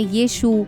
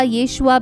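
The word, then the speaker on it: ישוע: profit माना जाता है इब्नी में उन्हें यीशु यीशु या यशुआ भी कहते हैं लेकिन अंग्रेजी उच्चारण में वोह जशुवा हो गए यही जशुवा बिगड़ करर जीसस हो गया आइए जानते हैं जीसस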